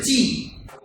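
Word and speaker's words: ち: তা টি হওয়ার কথা ছিল, কিন্তু টি না হয়ে হয়েছে চি। চি চি চি, তা চি।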